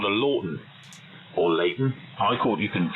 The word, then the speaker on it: Lauten: Actually, yes, it's the Lawton is spelled Lauten. It's a Lawton Audio, and it is it's just a beautiful microphone.